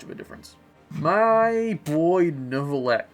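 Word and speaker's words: Neuvillette: My boy Novlet, or Niet, I should say, because that's how he's pronounced in French.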